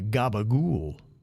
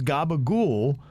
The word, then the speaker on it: gabagool: included Coca-Cola and Virginia said oh that's a Gaba ghoul well I was like well it's spelled uh odd way the email from Jeremy says that Virginia is wrong capicola also known as Gaba ghoul so that is true but they are spelled